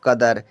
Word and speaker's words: कदर: Next है KADAR, पढ़ेंगे हम कदर। के से तो बच्चा का बनता है, ए साइलेंट, डी से दा, ए साइलेंट, आर से रा, हुआ कदर।